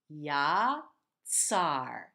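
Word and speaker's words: יָצַר: Moving on, we have yatzar. This letter tzadik, unique one in Hebrew, combines a T and an S sound, or a T and a Z sound, like in pizza, the double Z. Yatzar.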